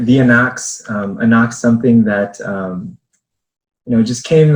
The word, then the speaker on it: Anak: And so multiple ways of saying Anak. There's the way of just saying it as it is spelled, Anak. But how we say it, and as Peter just mentioned, it can be a rallying cry as well. Anak! Or Anak!